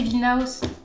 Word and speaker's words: Vilnius: Ah, mais non, c'est Vilnaus. Parce que c'est même Vilnaus Street.